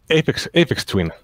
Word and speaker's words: Aphex Twin: Like Aphex Twin.